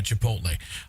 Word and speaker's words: Chipotle: Yeah, Chipotle.